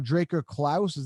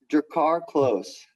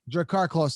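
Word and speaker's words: Drakkar Klose: Draker Klaus, am I pronouncing that right? Drakkar Close. Drakkar Close.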